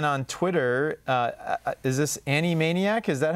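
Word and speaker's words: annimaniac: can find anne on twitter uh is this annie maniac is that how you pronounce that animania animaniac all right so a cartoon show a-n-n-i-m-a-n-i-a-c so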